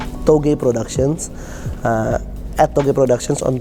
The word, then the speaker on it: TOGE: Twitter no game productions it's a bit hard because we pronounce it in an Indonesian way but it's t OGE togi productions after the productions